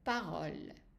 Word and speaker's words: parole: And the stress is on this O here. So most of the time when you have a word that ends with an E that is silent, and there is a consonant, an L, and then there is a vowel before, then the stress is on this part.